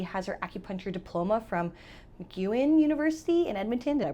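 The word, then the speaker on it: MacEwan: Uh and so for her schooling, she has her acupuncture diploma from Mcuan University in Edmonton. Did I pronounce that right?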